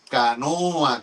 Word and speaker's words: canoa: embarcación allí en Europa ellos le llaman Canoa con la última sílaba lengua luenga larga esa Canoa y entonces